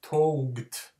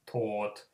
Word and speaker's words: taught: For instance, if you take the English word taught, it's spelled with O-U, but the O becomes the dominant. So it's not pronounced touged. The way that if the word taught would be a Finnish word, we would pronounce it touged, because we don't combine vowels the way that O and U become just taught, the O becoming dominant.